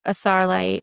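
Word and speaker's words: Astarite: It's like saying a starlight but without the t. Okay. So, a starite.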